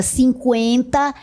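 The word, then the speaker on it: cinquenta: Após 2016, de 2016 em diante, a palavra 50 é escrita desta forma e pronunciada com esse U.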